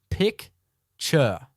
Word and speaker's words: picture: Listen to the syllables. Pick-ture. Now we have the big jug or pitcher. This time we say pitcher. So we have pick, chur, and pit, chur.